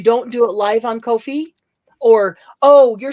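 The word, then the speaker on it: Ko-fi: that it is spelled Kofi I mean it's pronounced Kofi fi isn't it fi yes I said I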